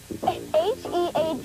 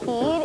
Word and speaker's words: head: H-E-A-D is not heed, it's head.